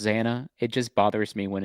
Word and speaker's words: Xana: I know it's pronounced Xana. It just bothers me when it's, she's like Xana, Xana, Xana, Xana, Xana, Xana, Xana.